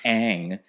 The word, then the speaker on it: Aang: the one who said they didn't even pronounce his name right girl is pronounced Aang you have the literal